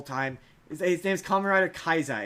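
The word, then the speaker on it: Kaixa: His name's Common Rider Kaisa. It's K axa. Kaisa is how they pronounce it.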